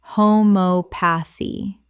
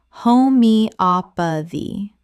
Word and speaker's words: homeopathy: Homeopathy. Correct pronunciation. Homeopathy. The stress falls on the third syllable. Op. Five syllables in total.